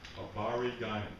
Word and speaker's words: habari gani: And it's pronounced habari gani.